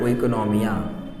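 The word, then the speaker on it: οἰκονομία: एक Greek term है जो वहाँ से आया है, ग्रीक टर्म है जो वहाँ से आया है, जिसको वहाँ के प्रोनाउंसिएशन बोलते हैं ओइकोनॉमिया।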